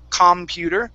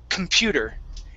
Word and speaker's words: computer: So, for example, another word is computer. I don't say computer. It's computer. And I say it really quick.